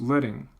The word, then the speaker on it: leading: I'm going to teach you now about this term which is pronounced leading.